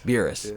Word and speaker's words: Beerus: Beerus.